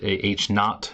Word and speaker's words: H naught: H sub 0, we could pronounce that H naught as like N-A-U-G-H-T if you were going to spell that.